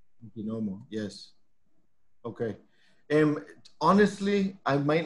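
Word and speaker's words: Niquinohomo: She mentions that her farm is in, and correct me if I'm pronouncing this wrong, but it's in Niquinomo? Niquinomo, yes.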